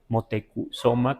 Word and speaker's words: Motecuhzoma: los españoles, y además se empieza a escribir con U, Motecuzoma, como hoy lo pronuncio también, por los escritos, o